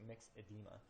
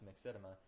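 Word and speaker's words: myxedema: So where these global bond and then mixed mixedma sorry looks like mix edema is pronounced mixedma is swelling and puffiness around the joints.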